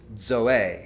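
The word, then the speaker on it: ζωή: But the word he actually used there is zoey. It has a d before the z but it's spelled zoe.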